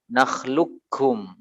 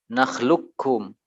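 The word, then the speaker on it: نخلقكم: membacanya dalam riwayat hafsh dalam satu riwayat ini sebagian meriwayatkan dalam ayat Hafiz membacanya dengan Idgham Kamil nakhluqkum nakhluqkum sebagian membangun idgham naqish nakhluqkum lu yo Come ane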